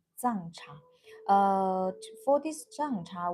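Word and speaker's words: 藏茶: Uh, we in Chinese call it Zang cha. Zang cha.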